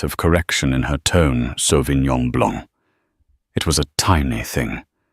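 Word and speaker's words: Sauvignon Blanc: The Sovenon Blancc. She pronounced it with a hard flat G and an anglicized blank.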